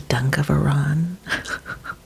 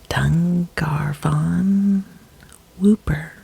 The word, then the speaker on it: Dungarvon Whooper: interesting ones number one the dunk of Iran I mispronounced that let me try that one again the dungarvon whooper is the only real